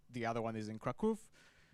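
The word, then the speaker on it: Kraków: I think one is in Warsaw, the other one the other one is in Kraov. Kaku, that's how you say it.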